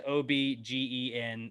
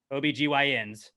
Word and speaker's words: OB-GYN: Women have OB-GYNs. Men have the Y Factor. The new. Are you doing that on purpose? No, in the copy it says OBGEN, like it's OB. First of all, it's O-B-GEN, OBGYNs.